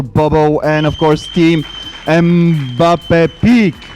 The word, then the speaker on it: MBAPEEK: A round of applause for Bobo and, of course, Team MBAPEEK, right?